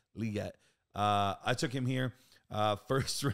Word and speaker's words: Legette: somewhere, but he's like, guys, it's Legette, not Legette. I'm a Gamecocks fan.